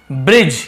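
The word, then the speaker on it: bridge: यानी तोड़ना ठीक है ब्रिज यहां प डी साइलेंट रता है ब्रिज ब्रिज यानी होता है पुल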